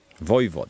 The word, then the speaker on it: voivode: Voivode, that's how it's pronounced.